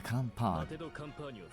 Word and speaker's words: campagne: I'm going to make pâte de campagne. Campagne. Hold on, say that again. Campagne. Campagne? Ugh, gosh dang silent letters.